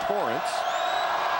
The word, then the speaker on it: Terren: the free throw line torren Kinsey his first name is spelled Terren but pronounced Torrance to remind myself of